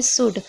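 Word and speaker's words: should: भी L silent रहेगा जैसे कि आप देख रहे हैं शूड सूट में आप देख रहे हैं डी से पहले एल है तो यहां पर क्या है एल साइलेंट है दूसरे में देखिए हाफ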